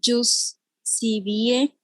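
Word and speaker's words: ius civile: Cuando explico que nació de la palabra jus civile, se escribe justice, así como justice, en inglés.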